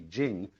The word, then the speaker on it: jing: you know how to the fact that it should be Jing when there's no apostrophe after the CH but Ching when there is an